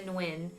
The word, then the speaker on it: Nguyen: taken by foreign huh it's uh it's pronounced when i know a couple people at school that um i sometimes saying to win as well it's it's wrong but it's supposed to be when when okay when like when where